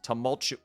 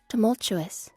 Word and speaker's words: tumultuous: It's been a tumultuous tumultu tumultuous tumultu tumultu tumultu moment. I can spell it. Tumultuous.